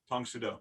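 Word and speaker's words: Tang Soo Do: that he was working with oh tom sudo tong sudo and then you had stuff like kenpo what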